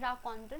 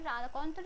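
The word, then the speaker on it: raconteur: इज रा कोंटर ट्स हाउ you pronounce it in French it's difficult to बी a multilingual person ठीक है रा कोंटर रा कोंटर इ सम जो एनेक्ट्स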